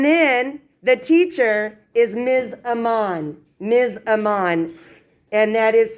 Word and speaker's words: Aman: Aman. Ms. Aman. And that is spelled A-M-A-N.